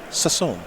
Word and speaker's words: Sasson: Sasson.